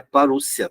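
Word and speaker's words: parousia: O termo parúcia, tá? E é a forma de você pronunciar, porque quando você tem um ditongo numa palavra grega, tá? Ele tem som de U.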